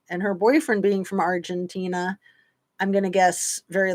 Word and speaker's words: Argentina: me say it wrong Argentinian well that's saying it right but he was from argentinia instead of Argentina remember when I made